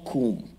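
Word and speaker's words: קום: It's the word kum. It's spelled Q-U-W-M.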